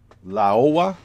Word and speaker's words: Laowa: a micro lens, in the sense that this lens here, which is a, I can never pronounce this name, what is it, Laowa, L-A-O-W-A, cet objectif-là qui m'a été prêté par